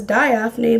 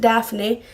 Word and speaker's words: Daphne: It says Diaphne, but I pronounce it Daphne.